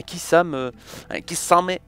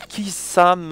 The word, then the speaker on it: Kisame: pas être encore un Kisame, j'aime bien le dire comme ça, il y en a qui disent Kisame, moi j'ai dit Kisame, Kisame, on prononce pas le E, tu vois.